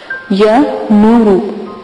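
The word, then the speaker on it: یا نورُ: تو آپ لفظ کے ہجے سن لیں۔ یا زبر یا، نون پیش و نو، را پیش رو، یا نورو۔ عبارت عمل کی یہی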